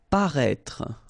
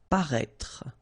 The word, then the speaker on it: paraître: Paraître. Okay, so if you remember from the first video, then we had as well this accent circonflexe on the top of I here, but then you don't pronounce it.